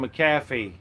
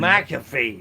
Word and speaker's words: McAfee: The suspicious death of John McCaffy. Yeah, not not suspicious. We know what happened. This is John McAfee, the eccentric tech million McAfee. There you go. I wasn't even saying it right.